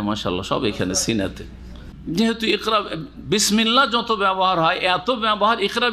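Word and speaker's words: بسم الله: উচ্চারণে আলিফ আছে না। কিন্তু লিখাতে আছে। যেটা হচ্ছে আসল। এখানে সেটা হজফ হয়ে গেছে। উচ্চারণ আসে না আর লিখা তো আসেনি।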